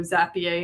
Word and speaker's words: Zapier: I can't tell you how much money I saved because I didn't have to do Zapier anymore, and I didn't that's how it's pronounced.